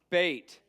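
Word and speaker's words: בית: sound of the vow bait B sound gimo G sound hard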